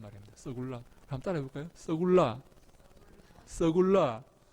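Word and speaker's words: סגולה: 여러분이 소유란 말이 무슨 말인가 하면요, 이 히브리어로 서굴라라는 말입니다. 서굴라. 한번 따라해 볼까요? 서굴라. 야, 여러분들이 발음이 얼마나 좋은지 모르겠습니다.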